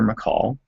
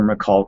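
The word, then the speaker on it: Michal: 20 saul's daughter nicole there are several different pronunciations for it but that's sort of the traditional english version saul's daughter mccall fell in love with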